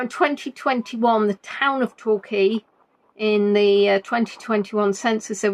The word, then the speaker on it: Torquay: Now in 2021 the town of Torquay, in the 2021 census, there was a population of 52,034 people.